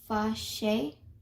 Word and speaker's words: fâché: Now, je suis fâché, you pronounce it fâché, or you can say it as fâché, if that makes a little easier to learn how to pronounce this word, which means I am mad or angry.